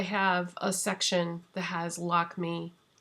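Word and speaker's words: Lakmé: a section that has lock me actually it's probably pronounced lockme lockme lockme kajal eyeliner and if you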